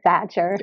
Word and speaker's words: Sachar: name two out of three are hard to pronounce so I'm always correcting people and letting them know hey it's it's Cassandra satcher I I even asked you and I still